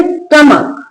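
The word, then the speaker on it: stomach: Next है जब word में सी के बाद एच हो या आप ऐसे मान लो कि एच से पहले सी आए। तो क्या है? एच साइलेंट रहता है।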